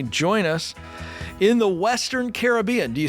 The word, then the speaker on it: Caribbean: Yeah, they said it's Caribbean.